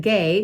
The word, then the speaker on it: Gao: But I pronounce it GAO because it's G-A-O.